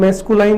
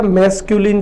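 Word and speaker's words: masculine: बहुत सारे लोग इसको जो है मैस्कुलाइन बोलते हैं, बट मैस्कुलाइन नहीं बोलना है, the correct pronunciation is मैस्कुलिन। तो फर्स्ट जेंडर कौन सा जेंडर हो गया? मैस्कुलिन जेंडर हो गया।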